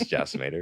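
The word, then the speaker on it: Jacimator: is jackor or jimat I don't know how to pronounce my own name everybody just says jator it's it's spell uh j a c i m a t o r i do art and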